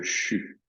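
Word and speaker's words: xu: étape euh le son c'est un son qui s'écrit pas comme ça se prononce c'est des Chinois euh il s'écrit x U et il se prononce CHU alors CHU avec une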